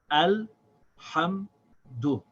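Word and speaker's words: الحمد: So this is al hamdu. Alhamdu.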